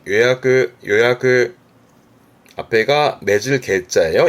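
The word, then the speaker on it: 予約: 발음은 요야크.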